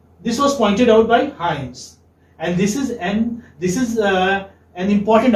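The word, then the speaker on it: Hymes: This is pronounced as Hyams. Okay? How will you? Like, this is how. Hyams.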